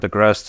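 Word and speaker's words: Agrest: originally from Belarus so the word agast is the same in Poland and belarusan it means you know the berry uh that's displayed there but of course it also rhymes with rest so it has something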